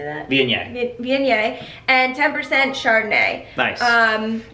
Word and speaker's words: Viognier: Viognier.